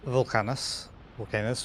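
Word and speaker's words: Vulcanus: So this is Volcanus, how you're supposed to pronounce it.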